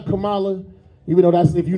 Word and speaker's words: Kamala: Kamla say her name right Kamala.